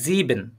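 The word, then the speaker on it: sieben: আইনসাইন জেক্সেন নয়ন হ্যাঁ এটা আরেকটু স্পষ্ট করে প্রোনাউন্সিয়েশন করবেন এটা হচ্ছে জিবেন জিন ঠিক আছে এটা জিন হ্যাঁ খেয়াল করেন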